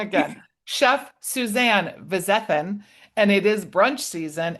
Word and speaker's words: Vizethann: Chef Suzanne Vizthan and it is brunch season.